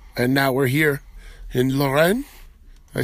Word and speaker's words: Lorraine: We played in Normandy, and now we're here in Lorraine.